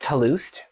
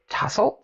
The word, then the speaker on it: tussled: how is this pronounced a friend of mine thought tussled was pronounced toulouse even though it's not spelled that way she's like your hair looks too loose and i'm like it